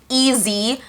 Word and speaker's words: EEZTHRU: told me to use these like easy, but it's spelled EEZTHRU, easy floss threaders.